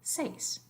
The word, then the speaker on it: seis: its own strength then it stays together as a diphthong just like you learned in the previous slide so this is just one syllable seis but in the next